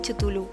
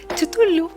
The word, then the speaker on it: Cthulhu: grupito que os he dicho antes de los relatos de los mitos de Cthulhu, ¿vale?